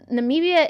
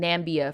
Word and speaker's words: Namibia: okay hold on hold on uh christina says namibia is a country don't know what they talk about that's what i thought i thought it was a country that i was just mispronouncing nambia for the longest like i always thought it